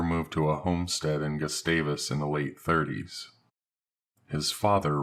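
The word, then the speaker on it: Gustavus: One day he mentioned that he'd spent some time living in Juno and a small nearby town called Gastavis. That's how the locals pronounce it.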